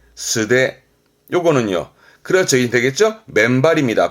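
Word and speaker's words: 素手: 발음은 스데, 스데.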